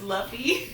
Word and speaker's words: Luffy: luffy monkey deluvie d luffy yes okay it's pronounced luffy it's not it's not he said it's not